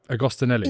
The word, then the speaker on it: Agostinelli: Agostinelli. Agostinelli. Yes, sure. Perfect. You know what? Whatever. Elena. No, but that's good, right? Agostinelli.